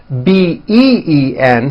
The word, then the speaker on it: been: beam however this word b-e-e-n spelled with a double e is pronounced with a low e sound bin like in the word hit okay even though it's